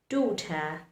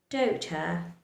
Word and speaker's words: daughter: For example, in words like daughter, daughter, though, are high, high, these two letters, G and H, remains silent.